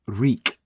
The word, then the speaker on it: Reek: They ask his name and with some prompting he comes up with Reek rhymes with leak.